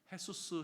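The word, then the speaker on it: Jesús: 가지고 깜짝 놀란다는 거예요 헤수스 헤서스라고 부르지만 스펠링은 분명히 예수님이랑 똑같은 지저스라고 되어 있거든요 그만큼 기독교의 영향을 받은 그런 히스패닉 피플 가운데는 햇수스라고 하는 예수님의 이름을 가지는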